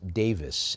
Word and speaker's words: Davies: which I understand as the name is often pronounced Davis in the UK as in Ray Davis of the of the Kinks band.